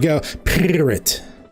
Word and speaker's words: Pirrit: Well, she pronounces it like Pirrit. Okay. Like she's purring.